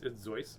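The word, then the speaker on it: Seuss: theodore's disguise of course dr zeus a soy actually it's zoys but a lot of people say it wrong uh hi fly guy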